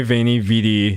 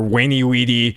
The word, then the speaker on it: Veni Vidi: That was my that's my Veni Vidi tattoo, or Wani Weedy, if you want to pronounce Latin correctly.